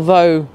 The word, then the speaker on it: though: either way but again we've got the same sort of letters the same th got an O ugh we have the same as in all those other words pretty much and yet we had another pronunciation rule and this really is